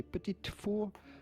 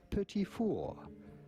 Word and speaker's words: petit four: In French, in France, we would call them petit four. The T at the end of petit is definitely silent, so do not say petit four, but rather petit four.